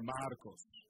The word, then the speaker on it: Marcos: his name is spelled M-A-R-C-O-S, Marcos. Marcos. And I asked him for permission to be able to tell you this. M-A-R-C-O-S, Marcos. Okay? If you put the Spanish, you roll the R, Marcos.